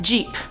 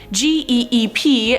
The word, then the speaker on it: geep: But let's move on to number 5, Jeep, or Geep. No, I'm not talking about the car Jeep, this is spelled G-E-E-P, and I was probably right the second time saying it's a Geep.